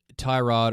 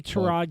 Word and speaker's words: Tyrod: Right now, it appears like it's going to be Tyrod or Tyrod Taylor, however he Tyrod.